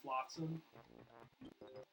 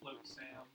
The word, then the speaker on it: Flotsam: I think they're just, like, officially I think their name is just Flotsam. But because Flotsam is spelled funny, I like the idea of Rare being witty and calling him Float Sam.